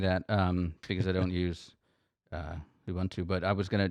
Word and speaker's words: Ubuntu: All right, so I didn't understand any of that because I don't use Ubuntu, but I was going to just mention, Don, I look at the YouTube comments.